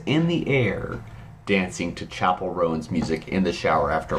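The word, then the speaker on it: Chappell Roan: to know this name everyone's been a buzz about Chapel row so I learned it is not Chappelle Ro and I and so I learned how to pronounce it recently so I that's where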